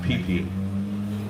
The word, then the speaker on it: pipi: Yeah, it's pronounced pipi.